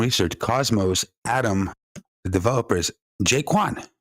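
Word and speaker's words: Jae Kwon: Cosmos, Atom, the developers, Jaquan. Kind of rhymes with Doquan, right? Jaquan. Not Jaquan, particularly.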